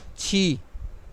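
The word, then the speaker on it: qī: ہے، چی، چی، چی۔ تو یہاں، Q-I ہے chi, chi, chi.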